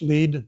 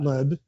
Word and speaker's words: Lead: to lead I don't I think it's pronounced lead not lead to lead south Dakota